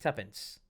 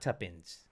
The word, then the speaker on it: tuppence: spell t-u-p-p-e-n-c-e and ends tuppence right yeah tuppence not tuppins they call they said